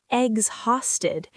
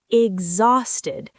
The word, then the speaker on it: exhausted: It's not exhausted. It's exhausted. The X sounds like gz.